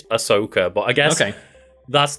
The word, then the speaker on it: Ahsoka: h on it but it's AHS so it's ah Soca I think I say I've always read it as Ashoka well that's my bad then that shows how